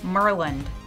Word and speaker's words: Maryland: city of Rockville Maryland you know how they say it Merlin is testing out technology